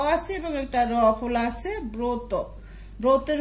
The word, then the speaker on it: ব্রত: ব সাথে অ আছে এবং একটা রফলা আছে ব্রত ব্রতের উচ্চারণ আমরা লিখব ব রফলা অকার তো অকার